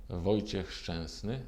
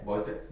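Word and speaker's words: Wojciech Szczęsny: Which is the correct pronunciation of your name? Wojciech Szczesny. You can hear it, but you will never be able to say it.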